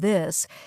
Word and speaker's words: this: Yes, many learners say tink instead of think or dis instead of this, but here's a simple